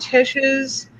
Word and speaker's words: Tish: And I sure hope Tish is the right way to pronounce it, because that's what's stuck in my head. That's what she says.